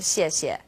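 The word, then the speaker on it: 谢: pronunciation of CS yet you can think of it kind of like the word she and a she she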